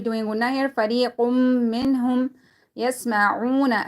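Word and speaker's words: يسمعون: فَرِيقٌ مِّنْهُمْ يَسْمَعُونَ. Again, once again, waw is silent, and before that there dhamma. We're going to be stretching it according to one alif.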